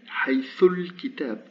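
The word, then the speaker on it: حيث الكتاب: turns to a waṣla, and I pronounce haythul, haythul kitab, haythul kitab.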